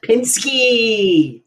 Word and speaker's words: Pishke: titled toriia can you say it Pinsky business Pinsky Pinsky which I had to look up how